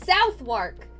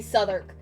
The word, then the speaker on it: Southwark: an American you look it's spelled southwark how am I supposed to know that it's supposed to be Souther what the [ __